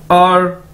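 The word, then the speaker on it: 二: और ये इसको प्रोनाउंस करने का तरीका है, और, और, और, ठीक है, इस तरह से हमने बोलना है। और ई को बोल के आगे आर थोड़ा सा बोलना है बस, और यानी टू।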